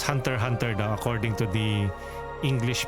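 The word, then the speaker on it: Hunter × Hunter: Many have mispronounce it before like it's Hunter X Hunter. Well, sometimes you you can pronounce it like that, but it's Hunter Hunter though.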